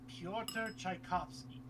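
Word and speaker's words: Pyotr Tchaikovsky: now i know how to say it it's piotr tchaikovsky there it is i was close i was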